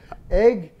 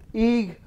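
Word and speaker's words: Eigg: And it's on the island of, and there's 4 different pronunciations for it: egg, eeg, eig, and ika.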